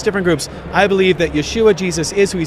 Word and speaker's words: Yeshua: I'm a Jewish believer in Yeshua, which in the Middle East is the Hebrew, that's how you say his name, Jesus.